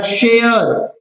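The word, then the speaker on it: share: आपका आ जाए अगर शेयर शेयर देखो यहां पर स्पेलिंग में तो इ है लेकिन बोलने में नहीं आ रहा वो इ हमारा वर्ड है शेयर आर पे ही एंड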